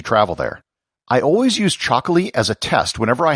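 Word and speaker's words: Txakoli: It's called Chocolate, spelt with a TX instead of a CH, and it's produced in the Basque country.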